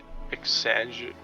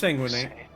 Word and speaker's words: exsanguinate: So exsanguinate. What's that? How's that pronounced? Exsanguinate. Exsanguinate. That's right. I forgot.